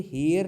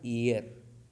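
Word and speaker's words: heir: टू हिज फादर property, अब इसको हेयर नहीं पढ़ा जाएगा, सॉरी, हेयर मीन्स बाल होता है, एच ए आई आर, लेकिन एच ई आई आर जो होता है एयर, क्या होता है एयर, एच ई आई आर, एयर माने उत्तराधिकारी।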